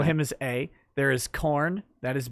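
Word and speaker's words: Khorne: have we'll label him as a there is corn that is b k h oh you like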